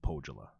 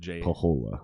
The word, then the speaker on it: Pohjola: a whole town called pogella and you said everybody says it the way i originally said which was pahola yeah i think the j is silent and that's incorrect that is incorrect so